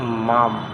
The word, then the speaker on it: Maugham: যেমন high high এটার মধ্যে কিন্তু জিএইচ এর উচ্চারণটা হয় নাই। তাহলে এভাবেই যদি আমরা বলি এটাকে এজন্য বলা হয় মাম।